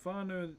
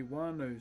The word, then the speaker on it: whānau: We have tribes that would, so whānau, an F in our language is a WH. And there are some tribes that say wānau, so they silence the H within the WH. So it's not so much pronounced like an F.